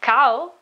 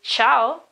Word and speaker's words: ciao: Example, chi in ciao, ciao, it's not cow, it is ciao, okay?